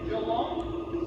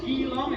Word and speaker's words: Geelong: My hometown is Geelong. Some people pronounce it as Geelong, it's sort of spelled like that.